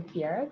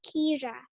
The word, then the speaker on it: Kiara: Fruit, all right, beautiful, Kiara. Thank you very much for that. And it's Okay, actually pronounced Kira.